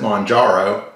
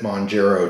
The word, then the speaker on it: Mounjaro: but they were and I'm going to try to pronounce it Monaro uh for that one person but I got to be honest with you uh I was watching a nausey newscaster and they kind of pronounced it mongero too munaro was relased in Australia last year so sounded like murro anyway uh didn't sound like monjaro I don't know maybe